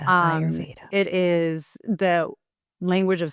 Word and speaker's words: Ayurveda: So it's pronounced Ayurveda. So you said that really well. Ayurveda, Ayurveda.